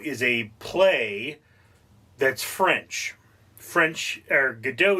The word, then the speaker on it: Godot: did, and Waiting For Godot is a play that's French. Godot is a French name. The T is silent because French people just have to make it difficult for you.